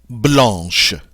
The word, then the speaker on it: blanc: added an h e notice too that while we would normally pronounce c at the end of a word in this case we do not so the masculine form is Blan not Blanc but Blan and then the feminine